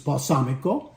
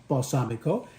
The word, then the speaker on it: balsamico: regular balsamic and uh in Italian it's balsamico balsamico and then next to